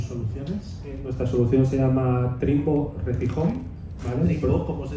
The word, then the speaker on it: Trimbo: Nuestra solución se llama Trimbo Recihome, ¿vale? Trimbo, ¿cómo se escribe?